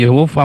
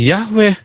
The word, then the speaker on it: Yehova: Ini bacanya Y, ini bacanya Ho, ini bacanya Va. Ini tambahan A. Jadi Yehova bacanya yang benar. Kenapa jadi Yahweh?